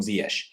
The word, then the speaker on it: Ziyech: me to call him zesh um i don't mind either although i'm much more used to calling him zia which is just the dutch way of pronouncing it i guess um but